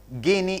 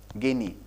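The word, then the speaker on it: Gini: about what we call guinea index okay it all depends on how you pronounce it maybe genie index i'm not an english scholar genie index or guinea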